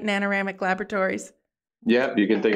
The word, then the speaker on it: Nanoramic: start by talking about nanoramic Laboratories am I pronouncing that right nanoramic Laboratories yep you can think of it like